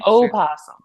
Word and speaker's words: opossum: saying opossum.